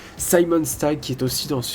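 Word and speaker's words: Simon Stagg: stag il y a Simon stag VO plutôt je vais le prononcer en anglais Simon stag qui est aussi dans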